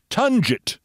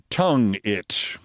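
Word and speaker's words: Tonguette: that field suggest T his name is actually pronounced tangit I however will cling to the hope that given his self congratulatory anti-constitutional fascism Peter t o n gu tte actually pronounces his name Peter tongit Two Bits of bookkeeping before we resume Hey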